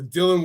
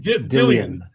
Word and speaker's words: Dillian: wanna talk about the dylan white and uh fury let's let's let's that's correctly pronounced as a name dillian it ain't it ain't dylan it's not dylan it's dillian honestly 85 000 tickets